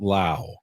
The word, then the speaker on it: Lowe: really good and Brandon Lau yep which is weird because everyone else pronounces it low but he pronounces it Lao couple X Padres on